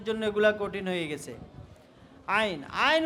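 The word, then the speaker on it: عين: সবাইকে মাফ করে দিন আইন আইন আইন আইন ঠিক আছে এভাবে কি গলার মধ্যখান থেকে প্রথমে আওয়াজ বের করবে এরপরে উচ্চারণ করবে আইন আইন আইন এরপরে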